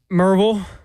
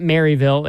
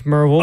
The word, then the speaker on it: Maryville: Well, you got Merville. Yeah. It's not Maryville. It's Merville.